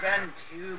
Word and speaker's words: Benjo: Well, if you pronounce it correctly, it's Benjo, but I'm actually slightly Christian.